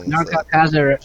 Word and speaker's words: Anarka Akaza: everything's Anarka Akaza, guys. So that's spelled as it sounds.